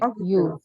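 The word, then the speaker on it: يُكَذِّبُ: Jangan yuk. Kalau yuk kan nanti mati. Itu kafnya hidup. Kalau mati. Kalau hidup. Jadi Yukadibu. oke.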